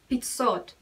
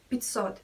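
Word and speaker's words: пятьсот: We spell it like this, 500, but actually people pronounce it 500, almost like pizza, 500, 500 рублей.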